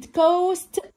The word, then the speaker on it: coast: كمان كلمة coast، ساحل. coast، السي بنطقها بصوت حرف الكي.